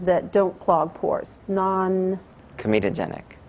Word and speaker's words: comedogenic: of um and I don't think I can pronounce it properly so I'll let you the formulations that don't clog pores non comitogenic comitogenic yeah and that's c o m e d